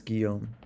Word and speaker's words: Guillaume: no difficulty about this Guillaume Guillaume was their way of saying my name she had told me